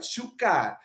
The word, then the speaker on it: shukar: Shukar. The stress is always on the last or the last but one syllable in the word, right?